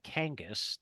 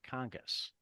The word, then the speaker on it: Kangas: I still have to remind myself that it's Kangas, not Congus.